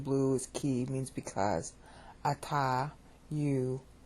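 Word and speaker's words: אתה: Ata, you, I.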